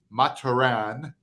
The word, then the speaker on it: Mathurin: He's French. It's actually pronounced officially Mah-tur-ahn, okay?